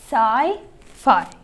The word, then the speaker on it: sci-fi: okay so pay attention we pronounce it as sai phi okay so sci-fi deals